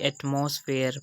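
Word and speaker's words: atmosphere: Word आ जाए, तो यहाँ पर हमने इसकी प्रोनाउंसिएशन की एटमॉस्फेयर।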